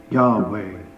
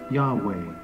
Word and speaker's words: Yahweh: But the Hebrew would be pronounced something like Yahweh, expressing the word for I am.